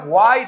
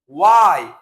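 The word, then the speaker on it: why: ওয়াই, কেন, উচ্চারণটা হোয়াই না, উচ্চারণ হবে ওয়াই, কেন।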